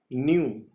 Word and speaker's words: knew: न्यू, KNEW, इसमें के silent रहेगा जैसे फर्स्ट वर्ड में था।